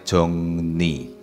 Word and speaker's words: 정리: Nah, ini yang saya garis bawahi ini, yang saya beri kotak ini bacanya jongni ya.